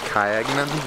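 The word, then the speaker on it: Kayangan: All right, we are leaving our beach lunch spot now and we are gonna head towards the famous Kyagnan Lake. That's how the tour guide told me to pronounce it.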